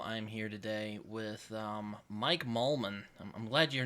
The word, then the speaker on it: Mollman: There's only two vowels, two Wait, syllables. was it? Did I say it right? Mollman?